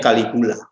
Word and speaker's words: Caligula: Namanya tulisannya Caligula, bacanya Caligula.